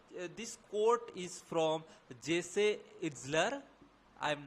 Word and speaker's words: Itzler: you can find him Jesse itzler it says yes so we will pronounce that way if you want to